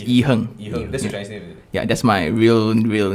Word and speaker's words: IHerng: i your youtube channel is i-h-e-r-n-g yeah it's e-hung yeah that's my real real name wait so